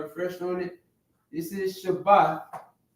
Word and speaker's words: Shabbat: No H, right? No, not the th, but the t. Shabbat, right?